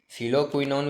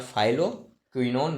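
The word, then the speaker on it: phylloquinone: ठीक है, फिलोक्विनोन भी बोल सकते हैं या फाइलोक्विनोन भी कह सकते हैं, ये प्रोनाउंसिएशन पे है।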